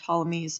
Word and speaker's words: Ptolemy: It is known as the Ptolemaic system, after Ptolemy, pronounced Ptolemy, P is silent, who described this system.